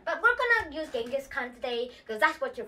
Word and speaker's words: Genghis Khan: It's not Genghis Khan. That's what most Westerners call him. It's actually Genghis Khan. That's the Mongolian way to say it.